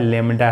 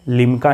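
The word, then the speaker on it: lambda: तो ये क्या है, लेमडा है। इसका प्रोनाउंसिएशन क्या होगा, लेमडा, ये स्पेलिंग है LEMDA, लेमडा, ठीक है, लिमका नहीं बोलना है, ठीक।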